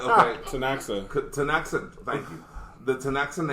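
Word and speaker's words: Ktunaxa: is it at right here oh you Decay is silent yeah so it's t tanaa okay tanaa tanaa thank you the tanaa nation which includes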